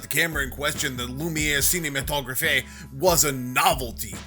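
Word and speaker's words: Lumière: It's pronounced Lumiere, dumbass.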